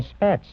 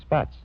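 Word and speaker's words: Spaatz: I said, "Sure, General Spatz." He says, "Well, please pronounce my name correctly. It's Spatz."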